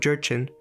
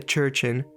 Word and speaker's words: Jurchen: son descendientes del pueblo jurchen que creo que se pronuncia cherchen pero se escribe con una j al menos en inglés